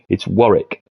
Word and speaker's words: Warwick: go Warwick England no there's no W in the middle it's Warwick let's call it Warwick